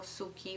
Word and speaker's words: suki: it's not it was now suki would be ski i was right why